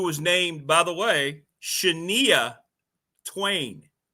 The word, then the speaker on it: Shania: And a young lady who was getting her career started, who was named, by the way, Shania Twain. Shania.